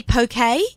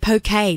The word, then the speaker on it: poke: I was in Hawaii and I saw poke, and I had to learn how to pronounce it properly, because that's how the Hawaiians pronounce it.